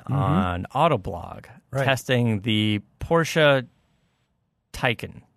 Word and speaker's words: Taycan: All right, so I read an article that you did recently, Dan, on Autoblog, testing the Porsche Taycan. Taycan rhymes with icon.